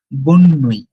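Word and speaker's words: bonne nuit: Remember, এটাতে বো বলতেছি, বো জু, বো সোয়া, বাট পরেরটাতে আমি বলতেছি কিন্তু বোন নুই।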